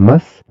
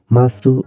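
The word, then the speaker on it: ます: nah bedanya masuk ya Mas sama maseng masuk itu bacanya Mas ya tulisnya masuk bacanya Mas itu bentuk positif maseng itu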